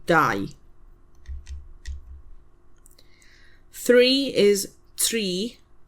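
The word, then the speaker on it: dau: Die.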